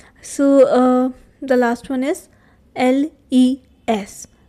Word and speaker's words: les: Okay, so the last one is les. Again, s is silent.